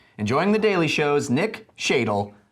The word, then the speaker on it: Shadle: Nick Shadle rhymes with dreidel.